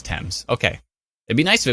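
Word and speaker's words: Thames: I think it came from England yeah the temps River but I want to call it themes because it's pronounced because it's spelled t h m s fames but no it's temps okay it'd be nice if it was te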